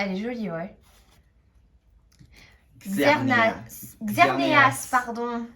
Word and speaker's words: Xerneas: Xerneas, pardon. Ouais, il y a le E. Il y a Ouais. le E à prononcer.